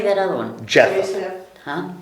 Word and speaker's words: Japheth: Japheth. Huh? Japheth.